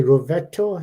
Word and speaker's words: Rovetto: Rovetto. Is that how you That's pronounce?